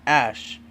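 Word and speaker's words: Æ: Musk meanwhile told podcast host Joe Rogan, I mean it's just X, the letter X and then AE is like pronounced Ash and then A12.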